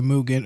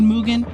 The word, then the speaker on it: Mugen: I just want to let y'all know every time I say Mugen, a part of me dies inside cuz for years that is not how I pronounced it.